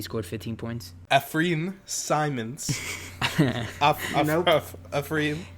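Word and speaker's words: Anfernee: Ephraim. It's like Anthony with an F.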